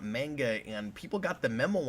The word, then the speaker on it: manga: Which is the same reason it's pronounced manga and not manga, and people got the memo on that a lot of years ago.